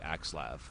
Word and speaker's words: Axslav: man it's aav well there's no accent over the a and typically like L A makes a lav sound but you know what